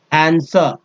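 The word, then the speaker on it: answer: they would make him आंसर आंसर आंसर में आंसर में जो है डब्लू का साइलेंट समझ सकते हैं ठीक है आंसर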